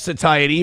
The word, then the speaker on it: satiety: Uh, Honky says, "I have satiety from you running the bit into the ground." No, you don't have It's not pronounced.